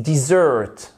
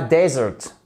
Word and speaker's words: dessert: bonbons les friandises ok I love sweet dessert OK et pas desert les goûts vous avez